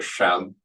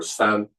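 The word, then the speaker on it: 山: So it's pronounced either shan or san.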